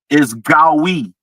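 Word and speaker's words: גוי: All right, so the Hebrew definition, the pronunciation of that word is Gawi. It would be spelled Gowy in English.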